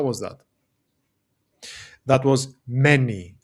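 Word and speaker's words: μένει: And this is pronounced many.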